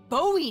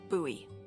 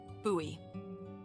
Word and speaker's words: Bowie: out this huge Rusty Bowie knife it's actually pronounced buoy what no it's like the last name like David Bowie different last name buoy are you just messing